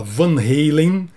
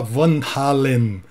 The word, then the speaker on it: Van Halen: holandês com a banda o apresentador principal falar Van Halen passa a bola para a entrevistadora e ela fala Van Halen nem os holandeses chegaram a um acordo eu ficaria com Van Halen esta entre Dilma e